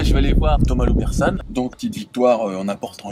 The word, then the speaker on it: Loubersanes: Loubersan, on le prononce comme ça.